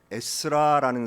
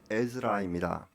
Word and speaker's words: 에스라: 지금부터 약 2500년 전에 페르시아 나라에 에스라라는 사람이 살고 있었습니다. 성경의 이름이 에스라, 영어식 발음은 에즈라입니다.